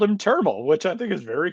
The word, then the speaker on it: Termel: One, his name is pronounced Termel. According to Baseball Reference, it rhymes with thermal. It is not Termel.